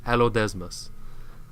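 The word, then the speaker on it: Allodesmus: it's this big hairy seal with big-ass teeth it's spelt a ll o d e ass mus hello desmos so it's an ancient big-ass seal and that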